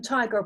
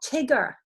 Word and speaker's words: tiger: Why does the I say its name in tiger? Why is it not Tigger? Answers. Open. It's an open syllable.